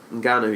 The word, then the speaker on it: Ngannou: Ngannou, yeah.